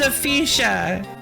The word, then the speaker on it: Aphesia: It's pronounced Aphesia. Magikarp percent, no, her name is Aphesia. It's like Alicia, but...